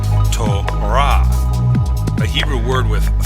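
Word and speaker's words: תורה: So when we say this Hebrew word in English, we usually say Torah. But in Hebrew, the closed syllable comes at the end, so in Hebrew this is pronounced Torah, a Hebrew word with 3 letters.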